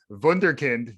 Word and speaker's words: wunderkind: a bit of a wunderkind early in the morning i don't think i could even pronounce that like yeah the w it's two more times german it's german so the w z vunderkind okay great great jordan